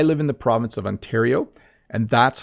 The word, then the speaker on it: Ontario: is ontario what oh which is the best pronunciation ontario so i live in the province of ontario and that's how i say it this is the province of ontario i live in ontario canada um let's go